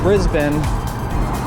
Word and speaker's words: Brisbane: up the whole Bridge all pink and yeah Brisbane if you don't want to say it like